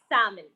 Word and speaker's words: salmon: It's not salmon, it's salmon.